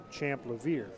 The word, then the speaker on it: Champ: time we played Keystone we mistakenly called him Brock champier we kind of frenchified his name but we found out that it's Brock champ thank you to Mr